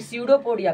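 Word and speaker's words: pseudopodia: विस्तरण विधि द्वारा कुटपाद यानी कि स्यूडोपोडिया, पी साइलेंट रहता है आपका, या शरीर के सतह से करता है।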